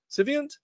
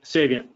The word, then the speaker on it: Saviynt: the chief trust officer for civant did I pronounce that right Jim civant uh Sav saviant saviant saviant my apologies and Michael's got 17